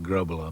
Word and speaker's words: Grobbelaar: between the posts here in Britain you call it graa because it's easier for the English pronunciation you know to come around but uh really it's get the the back of the throat going and roll the RS for the the Dutch way of doing it so and in Dutch